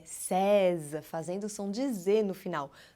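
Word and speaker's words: seize: atenção de ir no final tá não é Sesi é César fazendo são dizer no final nunca em hipótese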